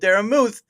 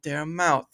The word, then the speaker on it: Daramouthe: It's called Daramouthe, not Daramouthe. Obviously, the silent E is missed by many, so have to be careful with that.